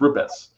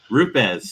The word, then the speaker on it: Rupes: We start every training with these are the ways not to say it, and then there's the proper way, but it's Rupes. Rupes. So that's exactly how I say it.